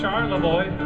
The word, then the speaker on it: Charlevoix: I've been to Troy and Leroy. That's all that rhymes with Charlevoix.